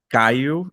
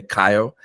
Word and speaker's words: Caio: It's pronounced Caillou in Portuguese, but in English you can say Kyle.